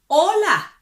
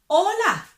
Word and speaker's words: hola: And then you can say, hola, hola. We don't pronounce the H because it's silent. So we don't say hola. We say hola.